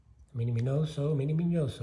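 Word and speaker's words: Miñoso: here and that's the mini minoso meaning yo so is really how you pronounce it in his Maria now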